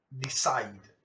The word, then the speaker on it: decide: Oigan, pero esta vocal, ella es muda, yo no la estoy pronunciando. Si la pronunciara, sí tendría 3 sílabas. Pero como no la estoy pronunciando, solo tiene 2 sílabas.